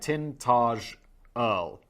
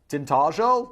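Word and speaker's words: Tintagel: Here in Tintterel, and Danny provided me a pronunciation guide, Tintage Earl, Tintageel, let's just call say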